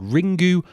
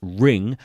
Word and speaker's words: Ringu: the movie is called ring goo or ring it's spelt ring goo but I believe actually the U is supposed to be silent so for the purpose